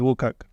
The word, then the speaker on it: WCAG: or in some regs they call it wag pronounce it wag so wcag is a